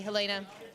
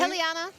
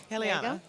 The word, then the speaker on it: Heliana: will play uh um I keep pronouncing it the uh the Dutch way Helena I mean I would encourage you to pronounce it correctly heliana heliana um so heliana she's